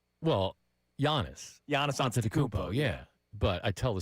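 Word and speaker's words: Antetokounmpo: And he was like, "Say after me, Anton Dubo."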